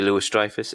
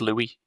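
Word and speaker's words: Louis-Dreyfus: Julia Lewis Drifus, is that how you pronounce her name or is it I think it's I think it's Louis Lou Drifus, I think.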